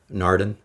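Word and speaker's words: Naarden: uh narden um Kathy am I getting the pronunciation on that right or Mark narden yeah thumbs up okay very good so apparently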